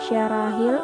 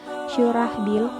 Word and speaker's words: Syurahbil: Abu Husamah atau yang lebih dikenal dengan nama Zaid bin Haritsah bin Syarahil atau Abu Ishaq membacanya Syurahbil, merupakan seorang sahabat yang sangat istimewa.